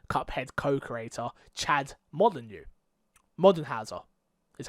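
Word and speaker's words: Moldenhauer: Studio mdh our cuphead co-creator Chad modern you modern Howser is how you say that told IGN that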